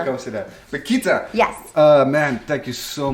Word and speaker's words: Keta: See. Plus I got an accent to begin with. Keta. Yes. The D is silent.